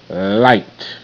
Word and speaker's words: light: Light. Light bulb. G-H is silent and does not show up in the sound box.